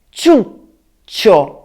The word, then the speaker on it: ciuccio: E poi notate come pronuncio questa parola, ciuccio. Questa pausa che ho fatto sta a indicare che le C sono due e infatti ciuccio si scrive con la doppia C.